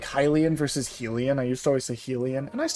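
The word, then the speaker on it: Hylian: So, it's started to set in my mind as Hilian instead of Helen.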